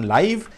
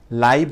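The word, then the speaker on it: live: ভার্বের পরে লিভ থাকলে সেটির উচ্চারণ লাইভ, সাবজেক্টের পরে লিভ থাকলে সেটার উচ্চারণটা হয়ে যাবে লিভ, রাইট? সো ভার্বের পরে যখন বসাই সেটি কিন্তু আমরা লাইভ বলছি, এবং এটাকে আমরা অ্যাডভার্ব বলছি।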